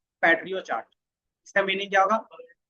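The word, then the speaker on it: Pareto: Then एक होता है पैट्रियो चार्ट, इसका मीनिंग क्या होगा, पैरेटो। प्रोनाउंसिएशन जिसका सही है वो अपने हिसाब से कर लेंगे। बताओ क्या होगा, सही क्या होगा वो बताओ। पैरेटो, पैरेटो चार्ट जो हमारे पास है वो क्या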